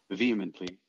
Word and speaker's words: vehemently: So we will pronounce it vehemently.